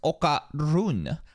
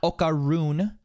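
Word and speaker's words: Okarun: by a spirit called actually most critical it's pronounced okar run not okaron typical white people can't pronounce the the RS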